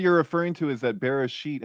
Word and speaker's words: Bereshit: So Chris, I think what you're referring to is that Bereshit has the shin in there. I'm pretty sure. So that's the sh of Bereshit, and so that's Genesis.